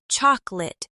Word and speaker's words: chocolate: For example, chocolate is pronounced chocolate with the middle syllable reduced to almost nothing.